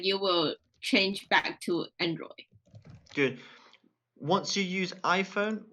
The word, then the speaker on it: Android: Android. Good. Make sure you get that D at the end.